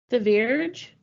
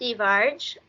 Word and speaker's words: Thivierge: to hear your additions The Verge di Verge Becca's was closer the so it's th um but it's French Canadian so cier is actually